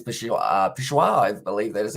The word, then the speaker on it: Peshawar: And there says Peshawar, I believe that is how you say it.